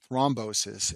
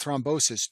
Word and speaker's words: thrombosis: The second stent complication is called stent thrombosis, and this name rhymes with restenosis, but it's a completely different process.